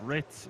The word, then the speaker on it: Ritz: by the way guys is the E silent I Googled it and I'm looking for the pronunciation but it seems like it's just Ritz not Ritz up at the very